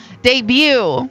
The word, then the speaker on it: debut: Can you name the silent letter? Debut.